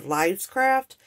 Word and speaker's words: Lifescraft: This is for, I think I said it wrong in my first video. I said Lifescraft. I said Lifescraft, and I believe it's Lifescraft.